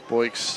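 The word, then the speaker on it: Boix: Anthony Boyks spells it B-O-I-X. Yep. Boyks is how they say it. Sounds like a sound effect.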